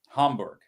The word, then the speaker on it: Hamburg: Hamburg.